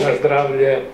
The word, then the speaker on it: na zdravlje: How do you say cheers in Croatian? Živjeli Bog, different. Živjeli Bog? Na zdravlje. Okay, na zdravje.